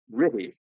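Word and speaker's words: RTTY: A much more commonly used form of frequency shift keying is radio teleite or ry as its RT2Y abbreviation is pronounced by its users.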